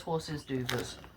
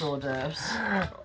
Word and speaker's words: hors d'oeuvres: Or also known as horses d'oeuvres. Because that's how it's spelled, horses d'oeuvres. It's hors d'oeuvres.